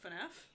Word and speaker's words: FNAF: What, FNAF?